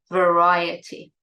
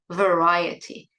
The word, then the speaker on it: variety: And the noun, now the pronunciation changes, the noun is variety. I say it again, variety.